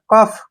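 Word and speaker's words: cough: अब जैसे नेक्स्ट है सीओ यू जीी एच जहां पर यू जीी एच आता है उसका मीनिंग फ बन जाता है ठीक है ना सीओ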